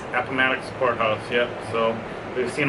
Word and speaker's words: Appomattox: Yeah, we went to, I can't pronounce it, Appomattox? Appomattox Courthouse, yep.